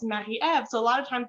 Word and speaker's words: Marie-Eve: peers and you're like no it's mahi ev so a lot of